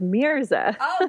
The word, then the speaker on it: Mirza: little hard to pronounce it's actually kind of like a meerkat so it's pronounced Mirza there's a-- i would